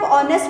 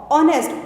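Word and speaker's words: honest: लेकिन अगर आप ऑनेस्ट को प्रोनाउंस करते हैं तो वो ऑनेस्ट ओ की साउंड आ रही है।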